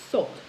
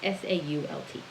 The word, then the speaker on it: Sault: You might pronounce it Sault. I don't know. It's S-A-U-L-T.